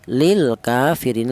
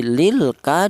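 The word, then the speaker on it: للكافرين: Jadi lilka dibaca izhar qamariyah alasannya ada lam takrif berjumpa dengan huruf kaf.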